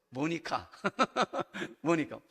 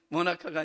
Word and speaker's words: 모니카: 모니카. 모나카가 아니라 모니카.